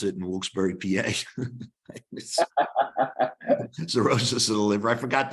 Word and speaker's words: cirrhosis: Okay, items that raise sex hormone binding globulin, again, estrogen, progesterone, and female hormones, thyroids, sea roaches of the liver. That's how they pronounce it in Wilkes-Barre, PA. Cirrhosis of the liver.